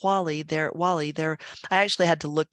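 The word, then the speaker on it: Whalley: It's not Wally. I actually had to look that up to see how it's pronounced. And they said you say it like Wall with an E on the end.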